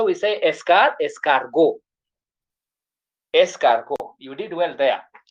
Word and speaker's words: escargot: This is escargot, T is silent.